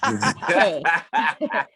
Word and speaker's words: Becquet: Mary Becquet. Is that right? Becquet. Becquet or Becquet? Becquet. It's French.